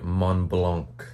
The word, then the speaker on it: Mont Blanc: You don't pronounce the K. I read that. Okay, sorry, Mont Blanc.